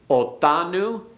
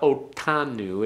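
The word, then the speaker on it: אֹתָנוּ: Othanu. Othanu. Don't make it a real hard one. It's not otanu, it's othanu. It's like a th as in thing. Yeah, as in thing as opposed to that.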